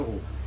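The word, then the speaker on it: roux: que é o ru você escreve r o u x RX vai se pronúncia ru Isso é uma técnica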